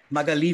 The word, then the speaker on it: Magali: Is it Magali? Oh, almost there. Oh. So you're pronouncing that way.